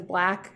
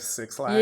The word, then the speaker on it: 6LACK: I think his name is Black. It's spelled 6LACK. Okay. Cool. I'm pronouncing it how I think it's pronounced. It's just not like 6 lakh.